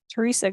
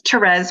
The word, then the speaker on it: Therese: finish off tonight um Teresa go ahead and am I pronouncing your name correctly it's Therese but it's fine um